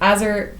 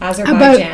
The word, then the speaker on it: Azerbaijan: But there's currently conflict between Armenian and, I'm going to say it right, Azerbaijan. Azerbaijan. I looked up the pronunciation and everything.